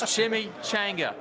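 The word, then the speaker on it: chimichanga: I don't know how to talk, but it's Chimmy Changga. That's how you pronounce it.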